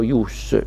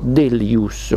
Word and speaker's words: ius: immette il formalismo delus alcuni pronunciano dello ius io dico delus come come altri immette nel